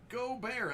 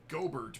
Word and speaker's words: Gobert: know where that's from matis Rudy The Joker goar actually you just call him gobert because he doesn't deserve to have his name pronounced correctly Goa Bazi come on Zion Oh